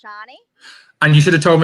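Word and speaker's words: Sharni: There is actually also a silent R in my name, so it's not Shani, it's Shani.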